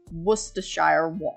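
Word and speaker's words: Worcestershire: So how you how you say uh that sauce name? It's uh worachire sauce.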